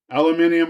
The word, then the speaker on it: aluminum: Um, aluminium or aluminum? Man, don't even get me started on that one. We're Americans. who say aluminum, but the Brits say it as they say. We say the right way. Aluminium. And they may be right.